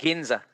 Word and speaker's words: Ginza: the heart of the ginza ginza you say ginseng ginza yes district with an actual park inside their